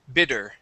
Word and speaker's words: bidder: this word here okay the Double T okay you you were uh trying to pronounce a d sound but it it came out as a Spanish D saying bther okay the word is Bid bidder bidder okay um bether bether okay